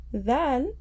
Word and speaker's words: ذال: The tip of our tongue will touch the edges of our top two front teeth. So our tongue will come out slightly.